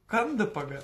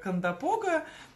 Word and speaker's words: Кондопога: Да, Леночка, по-моему, ты говорила, что город называется Кондопога, да, на первый слог ударения. Все называют это кондопога, но, наверное, верно будет, как сказала Лена, кондопога.